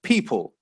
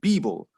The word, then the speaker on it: people: one and it says people if we pronounce it using a book we get bible now that sounds quite different to a native english speaker and it is different